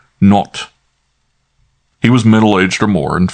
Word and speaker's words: Nat: She pronounced it not.